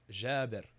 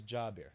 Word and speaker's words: Jabir: Jabir is an Arabic name and the actual way that it's pronounced in Arabic if for those that